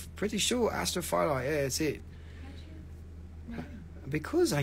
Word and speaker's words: astrophyllite: to backlight it nothing astro astrophyllate astrophyllide astrophyllite yes this is a better way to pronounce it astrophyllite that one is a